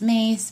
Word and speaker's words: Myss: And the same thing goes, like, I was listening to Carolyn Myss, or Miss, M-Y-S-S. I've heard that her last name is pronounced Mace, but it's spelled M-Y-S-S, who I really like and adore.